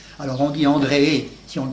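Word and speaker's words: Andreae: se termine par AE, le AE allemand, le AE latin qui fait E. Alors on dit André si on le prononce à la manière latine, et quelquefois on dit Andrea pour faciliter, parce que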